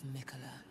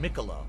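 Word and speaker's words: Miquella: am melania blade of mickeleh oh it's mykolo i didn't even know like nichola blight i didn't even notice how you say it melania and michela i've said it wrong the whole game no one corrected me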